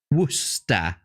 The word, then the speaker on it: Worcester: Worcester. Worcester. Worcester. That's how you say it.